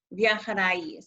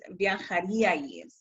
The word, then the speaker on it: viajaríais: It's not viajaríamos, it's viajaríamos. And it's not viajaríais, it's viajaríais. Where that accent is on that I, that's the syllable that receives the emphasis, viajarían.